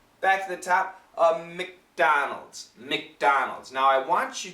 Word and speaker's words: McDonald's: that vibrated Z McDonald McDonald's so we start at the D D D D D and go right to a a z sound so what happens is